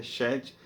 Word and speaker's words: Sete: do número da perfeição, mas é um Shet, a expressão é Shet, significa concedeu. Então, na verdade, o nome do filho de Adão, Sete, parece a mesma nomenclatura do número 7, mas a pronúncia é diferente, é Shet e significa concedeu, aquele que Deus concedeu.